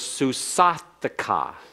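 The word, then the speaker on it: סוּסָתְךָ: And your mare is susathika. Susathika. Notice the metheg added to the left of the comments to accent it and make certain that we take the following schwa as vocal.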